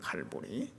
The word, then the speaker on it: 갈보리: 히브리 말로는 골고다, 로마식 발음으로 하면은 갈보리입니다. 갈보리. 이 갈보리는 칼바라고 하는 라틴어 칼바가 해골이거든요. 거기서부터 유래해가지고 갈보리, 로마어로 하면은 갈보리.